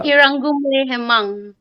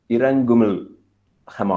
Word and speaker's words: Iranggumle Hemang: writer from Nagaland, uh, Iranggumle Hemang. I believe I've pronounced your name right. Did I do that? Oh, yeah. It's Yeah, Iranggumle Hemang. Iranggumle Hemang. Iranggumle. It's Gumle.